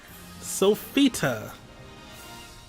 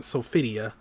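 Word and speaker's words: Sophitia: by the way sophita it's now selectable or is it sophidia i think they pronounce it just sofia sofia i'm not the selector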